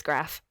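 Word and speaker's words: Graff: but um yeah one more his name is graph that oh it's another ad a collectible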